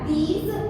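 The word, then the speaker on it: those: यहाँ पे देखिए ज के नीचे एक छोटा सा बिंदु है, इसको हम ज नहीं पढ़ेंगे, ज पढ़ेंगे। तो इसका प्रोनाउंस हो जाएगा दीज, इसका हो जाएगा दोज।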